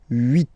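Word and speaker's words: huit: So remember in French this ash letter here. Okay. Uh doesn't exist phonetically. So we we don't really pronounce it. Okay. So if you listen carefully, you will only listen or hear this vowels at the beginning of the word. Vit.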